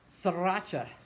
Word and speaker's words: Sriracha: Sriracha, pronounced sriracha, is a type of hot sauce or